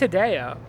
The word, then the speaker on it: Hideo: kojima yeah do that is it heidi o yeah i think it's hideo it's hidden i always say hideo because kojima like but it's just how they say it yeah how do we